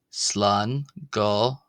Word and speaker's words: Slán go: Slan go. Remember short o not long not go but go slano slango slango slango slango slango slango.